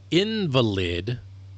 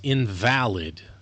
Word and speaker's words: invalid: hard and fast rules like okay invalid versus invalid. same exact words spelled exactly the same but one syllable has you know each syllable you know in the same word has different emphasis and so the word is pronounced differently and thus it is